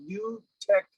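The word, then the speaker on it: Nu-Tech: California and it's it's spelled n-u hyphen t e c h it's called new tech uh seating what they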